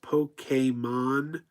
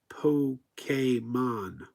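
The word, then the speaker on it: Pokémon: I will my sauces pokeymon is pronounced Polk came on not PO came on Noah Noah says yes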